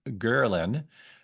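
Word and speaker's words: ghrelin: in your body there's another hormone called gerin and that's how you pronounce it I checked multiple times uh which tells your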